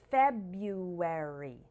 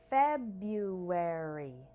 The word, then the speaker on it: February: February looks similar but a lot of people actually do not pronounce the R after the B instead we say something like February repeat after me once slow and once faster February February another difficult for syllable